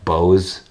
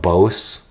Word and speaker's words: Bose: in the unboxing video tell me that it's pronounced Bose not both and so is potatoes